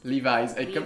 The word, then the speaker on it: Levi's: est vasy redis-le lev Levis comme si c'était un Z à la fin à la fin lev parce que c'est c'est un un nom posé parce que c'est Levi jeans les jeans de l